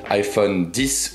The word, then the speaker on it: iPhone X: nouvel iPhone l'iPhone X il faut évidemment prononcer iPhone 10 ou iPhone 10 toi-même tu le sais